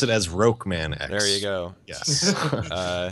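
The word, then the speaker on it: Rockman X: a fair inclusion yeah yeah it's we we pronounced it as rokan X there you go yes it's totally not even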